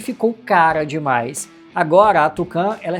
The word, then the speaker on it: Tukan: A Volkswagen mesmo já divulgou que o nome se pronuncia Tucan, referência direta ao Tucano, aquela ave, né, muito encontrada aqui no Brasil.